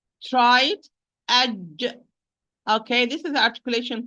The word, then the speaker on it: ج: Aj. Try it. Aj.